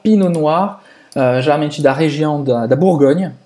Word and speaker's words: Pinot Noir: O famoso Pinot Noir. Pinot Noir. Pinot Noir. Não pronuncia o T no final, Pinot Noir, geralmente da região da